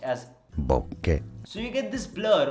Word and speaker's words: bokeh: That's called bokeh. It's originally a Japanese word and mostly it's pronounced as bokeh.